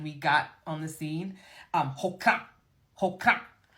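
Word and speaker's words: hoqra': Hoka, hoka. To me, that reminded me of the word okra.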